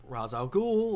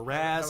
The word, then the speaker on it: Ra's al Ghul: They're the ones that Ra's al Ghul or Ra's al Ghul or Raz, if you're an idiot.